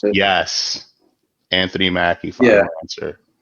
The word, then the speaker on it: Anthony Mackie: the falcon and the avengers what's his name anthony mackie is that how you pronounce it yes anthony mackey yeah anthony mackie is correct again right there chase i took